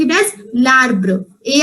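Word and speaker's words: l'arbre: just for an apostrophe if any french word is having apostrophe it is always pronounced with the next word together it is pronounced in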